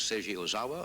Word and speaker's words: Seiji Ozawa: His latest album is Yo-Yo Ma with Seiji Ozawa and the Boston Symphony Orchestra.